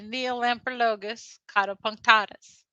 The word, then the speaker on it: Neolamprologus caudopunctatus: It's the Neolamprologus caudopunctatus.